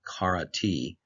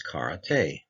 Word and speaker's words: karate: It's not karate. In this incorrect version, it sounds like an E sound at the end of the word. It's karate, and that's how it would sound.